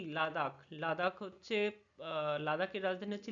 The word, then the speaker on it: লেহ: এবারে হচ্ছে কি লাদাখ লাদাখ হচ্ছে লাদাখের রাজধানী হচ্ছে লে উচ্চারণটা এরকমই হয় লে লেহ নয় কিন্তু হ্যাঁ আচ্ছা তারপরে হচ্ছে